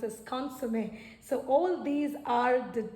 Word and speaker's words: consommé: This goes by, it is pronounced as gaspasso, and this is pronounced as bouillon, and this is pronounced as consommé.